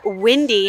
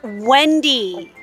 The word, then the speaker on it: Wendy: be 5 minutes late windy glasses red hair that's Wendy Wendy okay be careful how you pronounce her name right and that is why